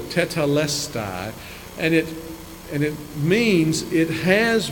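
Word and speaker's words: τετέλεσται: is one Greek word, it's a four-syllable, tetelestai, and it means it has been accomplished.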